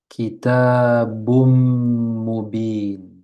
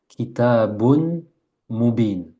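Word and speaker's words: كِتَابٌ مُبِينٌ: Je lis donc Rasulum minallah kitabum mubin khayrum minhu. Intuitivement, vous auriez lu quoi? Kitabun mubin. Et c'est juste. Le problème, c'est qu'on s'arrête. Quand on lit Kitabun Mubin, on s'est arrêté.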